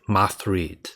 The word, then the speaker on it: Metroid: One thing I'm wondering about the language, I noticed that um they pronounce Metroid as like Moth read.